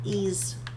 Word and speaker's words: Ys: pronounce it Yeezy um ease e okay not y e E8 and the ease